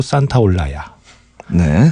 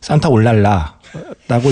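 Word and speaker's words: Santaolalla: 산타올라야네 이름 어렵죠 이게 그 스펠링을 보면 그 맨끝에 s a t o l 끝나요 그래서 보통 많은 사람들이 잘못 읽어요 산타 올랄라라고 이렇게 그 그 잘못 발음하는데 스페인어에서 L 두 개는 약간 y 발음이 그래서 예 어 어디 가셔서 구스타포 산타 올랄라 알아 이러면 약간 좀 없어 보이는 거요 그 어디 가셔서 구스타포 산타 올라야 아러라고 이제 말씀하셔야 되고 누군가 산타 올랄라 하면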